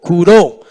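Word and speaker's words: κυρόω: una vez aquí y se escribe curó con la K, la de kiosco, con la K y doble O, curó.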